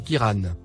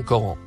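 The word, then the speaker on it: قرآن: La véritable prononciation du Coran est Kiran. Et non Coran. C'est l'ajout des voyelles par les exégètes, qui ont changé le mot Kiran en Coran.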